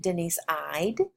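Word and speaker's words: Eide: I have since learned she pronounces it Denise I'd because she says her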